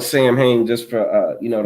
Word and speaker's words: Samhain: It's spelled like if you were to read it phonetically, Samhain, but it's actually pronounced Soin. They don't even know how to spell Soin, right? But I'm gonna call it Samhain just for you know